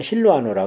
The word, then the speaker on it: 실루아노: 그 다음에 베드로서에 보면 이 마가하고 실루아노, 신라를 로마식 발음으로 하면 실루아노라 그래요.